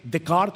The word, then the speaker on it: Descartes: ¿Han escuchado la famosa frase de el filósofo francés René Decart o Descartes como se escribe en español?